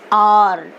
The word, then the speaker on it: hour: Here, even though we are writing hour, hour, we'll pronounce R. See, we pronounced as R.